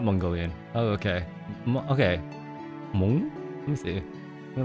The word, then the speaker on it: Hmong: You pronounced it perfectly the first time. Hmong.